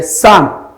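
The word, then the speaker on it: psalm: Then the last one, which is a sam, it's called that the letter P is not realized.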